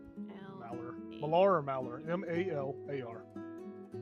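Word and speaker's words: Malar: I forgot what you said, how it's spelled. It's M-A-L-A-R, Mallar. Mallar.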